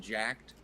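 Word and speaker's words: Jack3d: That one used Is that how you pronounce it? 3D. I always just thought it was like Jack did it. See, that's it was it's I It was Jack 3D, but yeah. Yeah. Yeah. Everyone said jacked.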